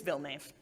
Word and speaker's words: Villnave: once i said yeah it rhymes with bill cave and i was like and then i followed it up with imagine if you will the most boring most anglicized pronunciation of these letters that you can that's the one it's bill knave do this is a